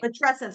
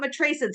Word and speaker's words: matrescence: Matrescence, not matrascence.